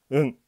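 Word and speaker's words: ん: 응 하고 오입니다. 이 오는 발음이 히라가나나 모음 오하고 똑같습니다. 그리고 응 발음, 나중에 발음이 중요하죠. 응은 뒤에 오는 글자에 따라서 소리가 응, 은, 이렇게 바뀝니다.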